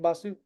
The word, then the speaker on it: Basu: Is that pronounced correct? Last name Basu?